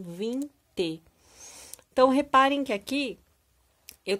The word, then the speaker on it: Vinci: Então, se escreve Vinci, né, o nome do Leonardo da Vinci, mas como ele era italiano, a gente fala com o som do número, né, da numeração, 20.